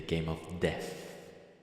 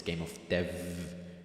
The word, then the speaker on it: Game of Dev: you participated in the Game of Death I need to pronounce it properly it's game of Dev it's a um God